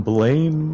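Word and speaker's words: Blame!: So, apparently that's also like an Americanization cuz the manga is called blame. That's how it's spelled. But apparently, according to the manga, it's supposed to be pronounced blam, but that sounds stupid.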